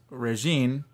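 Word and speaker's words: Régine: yeah her name is and pardon my pronunciation regine i believe it's just regine because you know the french like to add a whole bunch of yeah uh letters at the end of a word that don't actually that aren't pronounced yeah but this is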